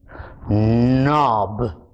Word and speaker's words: knob: Your K is silent. The sound is not kn. The sound is n. So the words that we did in this little story are no, knock, knob, knit, knot, knife, knee.